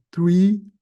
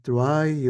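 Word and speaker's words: trie: dados que é a tree ou try ou como quem quiser pronunciar no fundo vende da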